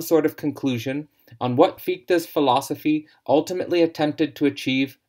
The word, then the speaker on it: Fichte: for those pointing towards a correction in my pronunciation of FITA which I pronounced in the last lecture to be fict I hope that I